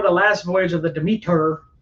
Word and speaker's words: Demeter: last Voyage of the Demeter Demeter depending on what language you speak the media there that's how you say it for real but it is that's how they said in the trailer join us anyway uh